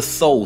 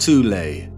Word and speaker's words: Thule: secret society within germany called the thol society sometimes alternatively pronounced tulay that had sub-factions within